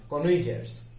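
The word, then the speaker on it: connoisseur: Anyway, so scholars মানে হচ্ছে এখানে কনইজার্স। কনইজার্স মানে হচ্ছে বোদ্ধা। এটা ফ্রেঞ্চ ওয়ার্ড, এর উচ্চারণ হবে কনইজা।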